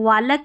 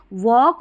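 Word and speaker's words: walk: पर ऐसे पैटर्न में एल साइलेंट रहता है, इसको वालक या हालफ नहीं पढ़ते, वॉक और हाफ पढ़ते हैं।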